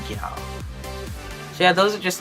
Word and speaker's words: gyal: It's just, instead of saying girl, which is G-I-R-L, we would say gyal, which is G-Y-A-L.